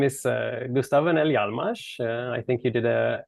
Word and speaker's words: Gustaf Öhrnell Hjalmars: be doing this so my name is uh gustavo nelly almas i think you did a good job with the pronunciation there i tried my best of course